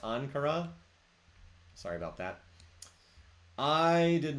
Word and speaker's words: Ankara: Ankara, it's pronounced Ankara?